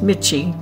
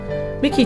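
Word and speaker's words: Michie: I know it looks like it should be pronounced Mitchy but they assure us it's pronounced Mickey Tavern was established in 1784 by a Scotsman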